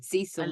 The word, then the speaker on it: Cecil: Cecil oh Cecil yeah Cil that pronunciation not cesil absolutely not yeah and